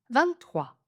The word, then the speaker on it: vingt-trois: 23, 23, 23. On retrouve le principe des 2 prononciations possibles. La première, 23, 23, 23 et la deuxième avec le petit n, 23, 23.